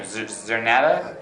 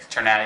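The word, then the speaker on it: Czerneda: Zernata? Chernata? Okay. I always. CZ is pronounced CH. CH? Okay. Chernata.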